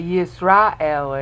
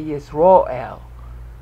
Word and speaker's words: Yisrael: And they don't say Yisrael anymore. They say Yisroel. There's been a tendency of Jews to pronounce A sounds as O sounds.